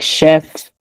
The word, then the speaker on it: chef: Except, some words like, they might have different origin, like chef, even though they have a CH, we still pronounce them like a, sh sound.